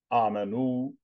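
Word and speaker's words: آمنوا: Amene, amena, amenu. Peki fiili bulduk. Faili nerede? Faili önündeki vav. Oradaki elif sadece o vavı, cemi vavı olduğunu anlatmak için yazıda vardır. Ama telaffuzda, okumada yoktur.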